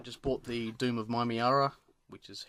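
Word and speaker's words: Mymeara: Also, I just bought the Doom of Mimiara, which is how it's pronounced, and I love it.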